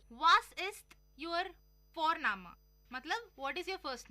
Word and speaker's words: Vorname: और हम यहाँ पे फोरनामा प्रोनाउंस करते हैं बट लिखते हैं उसको VORNAME। ओके, तो वो हम इंग्लिश के अनुसार प्रोनाउंस करेंगे तो वो बनेगा वॉरनेम, बट नो, इट्स फोरनामा।